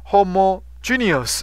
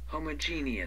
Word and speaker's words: homogeneous: 哈，homogeneous，homogeneous， homogeneous，homogeneous，homo，homogeneous，这个 G 把它拉长音，homogeneous，homogeneous，homogeneous，homogeneous，homogeneous。 homogeneous homogeneous 然后 G 是重音 homogeneous homogeneous homogeneous homogeneous